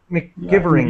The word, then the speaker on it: McGivering: The MC gives a Mick sound, so McGivering. McGivering, yeah, it would be my guess.